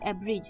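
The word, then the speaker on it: abridge: आई डी जी ई एब्रेज इसमें D silent है ए बी आर आई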